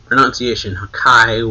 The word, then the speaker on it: Hakai: The kana for the attack gives the pronunciation Hakai, which can read aloud sounds like destruction.